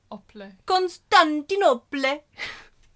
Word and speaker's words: Constantinople: Constantin opal, but like instead of opal like the stone, it's op. Constantinople.